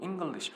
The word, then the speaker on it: English: 그래서 English를 발음할 때 이 개념을 모르는 사람들은 한국 사람들 거의 다 이렇게 읽어요. English 이렇게 읽어요. 근데 지금 틀리게 읽은 거죠. 여기까지는 유성음, 여기서부터는 타이어 바람 빠지는 소리.